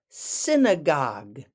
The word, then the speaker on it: synagogue: you go to the synagogue synagogue emphasis on the first syllable syn ogue got it